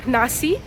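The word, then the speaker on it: Naxi: এনাদের যারা এখানের লোকাল তাদেরকে নাক্সি বলা হয়, কারণ একটা এক্স আছে, তো আমি ওটা ভুল প্রোনাউন্স করেছিলাম। আমি এনার থেকে জানলাম সেটাকে বলা হয় নাসি।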